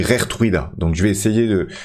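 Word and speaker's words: Geertruida: plusieurs, qui m'ont dit Gertruida, ça se dit Rertruida.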